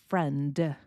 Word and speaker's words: friend: We're going to see this in the D in friend. I am not going really to pronounce that D sound. It's just going to change the way the N is pronounced.